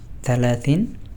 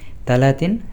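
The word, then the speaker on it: ثلاثين: তখন বলতে হবে আইনা উমরি সালাতিন সানা। সৌদিরা সা বলবে না। তারা তারা বলবে যে মানে তাছাকে তা এর মত উচ্চারণ করে। যেমন তালাতিন সানা।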